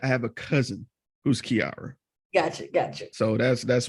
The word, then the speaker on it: Kiairra: which one is it it's Kiara Kier okay cuz I see air in your name duh Kier hell no that is exactly how it's spelled sound it out like